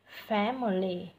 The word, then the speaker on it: family: Rồi tiếp đến là từ family, thêm trọng âm rơi vào âm thứ nhất này, hai âm còn lại thêm dấu huyền, family.